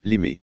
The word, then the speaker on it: Les Mées: thiery au siècle dernier les habitants de la région prononcer les mais avec un s sonore la miss aimant de la finale amorcée dès les années 1960 domine nettement aujourd'hui 2004 on dit actuellement les mes histoires moyen âge la